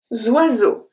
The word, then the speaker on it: oiseaux: So O-I make the sound wa. Wa. So zwa. Zwa. The S in the middle is pronounced as a Z because it's between two vowels.